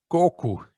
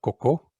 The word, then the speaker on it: coco: order patita de coco say goku and not as we say in europe coco because coco is in brazil what comes out of your behind okay so make sure you pronounce it correctly or you'll be for